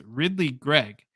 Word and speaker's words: Ridly Greig: The pronunciation is super easy. It's Ridly Greig.